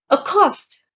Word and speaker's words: accost: Accost. The stress is on the second syllable, and it's a verb which means to approach and greet first.